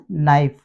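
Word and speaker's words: knife: तो सिंपल नियम है के के बाद यदि एन होता है तो हम के को नहीं पढ़ते नो के के बाद एन आया नॉक के बाद एन आया नाइफ हम इन्ह पढ़ेंगे नहीं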